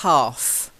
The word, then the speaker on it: half: And then the last one is again a silent letter here. Silent L. It's half. Not half, half. Try it. Half. Half. No, half. Oh, silent. Oh, Yeah, silent L.